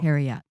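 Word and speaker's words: Heorot: Herot or Herot? Herot, yeah. Herot. So that AO is a diphthong, so it's two syllables, but it is a diphthong, so it's an AO. Herot.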